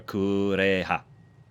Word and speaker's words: Kureha: That's just the unfortunate 2004 American pronunciation. It's a little more kureha.